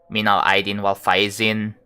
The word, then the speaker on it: minal aidin wal faizin: I think most people in Indonesia, they say like minal aidin wal faizin. Right? That's how you say it.